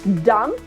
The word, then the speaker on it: dumb: Dumb, again, not dumb, right? We pronounce it as dumb.